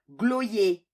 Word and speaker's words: Gros lait: Gros lait. Mais on prononce « gloyer ».